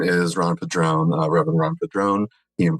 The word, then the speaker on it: Padrón: So my name is Ron Padrón, Reverend Ron Padrón, he and pronouns, and I